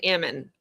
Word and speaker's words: almond: And do you guys know that you're not even supposed to call it an almond, right? That's not how it's supposed to be pronounced. I had to learn this the hard way. It's an ammon. They don't call it an almond. It's ammon.